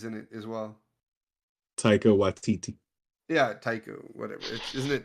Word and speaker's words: Taika Waititi: Oh, Taki Waititi's in it as well. Taika Waititi.